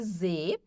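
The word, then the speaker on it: sie: O s som de z e o i e o e tem um som mais longo de i. Então fica z, eles elas.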